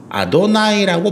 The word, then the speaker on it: 아도나이: 다르게 발음합니다. 아도나이라고 발음을 해요.